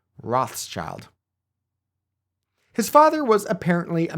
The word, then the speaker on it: Rothschild: a house decorated with a red shield or roach shield in German which is how they came to be known by the angelized name Roth's child his father was apparently